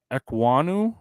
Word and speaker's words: Ekwonu: Akeem Ekwonu, is that how you pronounce that name?